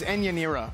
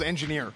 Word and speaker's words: Enyanira: It's Enyanira, my bad. I thought it was Engineer.